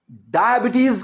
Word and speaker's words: diabetes: अब चलते हैं नंबर 8 की तरफ, और वो है डायबिटीज के स्पेलिंग लिखने हैं।